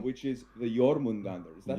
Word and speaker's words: Jormungandr: which is the Jormungandr. Is that how you pronounce it? Absolutely. Yeah, that's how you do it. The You really Jormungandr. have to roll the R's.